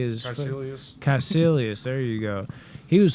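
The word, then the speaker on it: Kaecilius: Caecilius.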